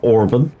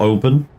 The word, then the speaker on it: Oban: Like I say, we're heading down to Orban, or Oban, however you want to pronounce it.